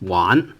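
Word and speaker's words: 玩: right well uh play it's one all right one is play one one with second tone one uh not fun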